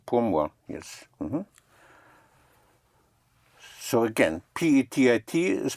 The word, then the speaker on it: petit: So again, P-E-T-I-T is pronounced Petit.